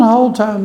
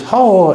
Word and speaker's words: Hull: It is not Halltown, Dickie Baker. It is Hull, Hull. It's what it's spelled.